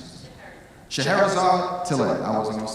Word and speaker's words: Scheherazade Tillet: co-founder, along with her sister, how do you pronounce this? Scheherazade Tillet.